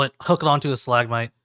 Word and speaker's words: stalagmite: Nope, might is the correct one. We figured No, that out. might is the correct one because the best way to remember it: T's hang down, M's spike up.